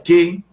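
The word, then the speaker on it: καί: Estoy en la lámina número 10 y encima de la raya blanca ustedes pueden ver ahí la palabra kai, que se pronuncia que, y la palabra nesteia, que es esa otra palabra subrayada con la línea blanca.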